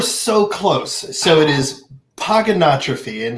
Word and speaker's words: Pogonotrophy: it is pogonotrophy and the easiest way to nail it every time is pogo no trophy pogo it's kind of like hippopotamus it's hip hop a thomas that's how he'd remember how to spell it thomas okay hip hop thomas where on earth did